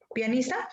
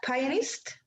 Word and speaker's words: pianist: listening to olafur arnolds another how do you pronounce pianista pionist pianist pianist yes because i have bought recently